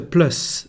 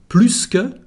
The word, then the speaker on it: plus: Now, when plus means more or plus in French, we pronounce the letter S.